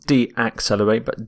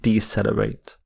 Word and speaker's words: decelerate: noun is acceleration acceleration the opposite of accelerate is decelerate decelerate not D accelerate decelerate and here are some